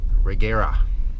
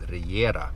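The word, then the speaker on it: Regera: Anyhow, so I posted a picture on Instagram this morning of a uh Kigseg Reggera is what they call it in English.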